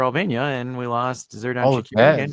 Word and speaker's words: Shaqiri: and we lost Zerdan Shaqiri again. that's how you pronounce Shakiri, yeah? Yeah, Shaqiri. Shashiri.